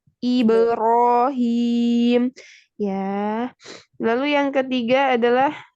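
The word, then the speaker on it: إبراهيم: Lalu yang kasroh ibirohim. Nah, ini ke bawah ke kasroh tidak, tapi iberohim.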